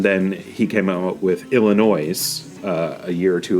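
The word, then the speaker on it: Illinoise: his best album is Illinois uh that's a CO name uh yeah it's Illinois with an e at the end so it's meant to be noise as something some people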